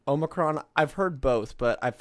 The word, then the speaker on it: Omicron: Well, Star Trek has several ways of pronouncing it. It's Omicron. Omicron. I've heard both, but I've heard that Omicron is correct, not Omnicron.